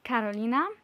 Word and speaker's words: Karolina: I am Karolina, which is how I pronounce my name in Poland, but my name has different form depending on the country I'm currently in.